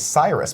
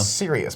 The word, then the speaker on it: Sirius: I saw the movie I thought it was Cyrus black no Sirius Black it is yeah and I was like why would they name this character after Sirius satellite radio that's dumb